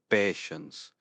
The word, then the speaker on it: patience: This one's pronounced patience. Don't forget that T I E combination forming the sh sound before the first sense.